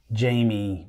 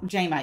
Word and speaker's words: Jama: Talk with Mike and Jama, living in the 321. So we're really excited. Wait. What? Why is it I know you as Jamie, but you are saying Jama? Jama, yeah, say it right.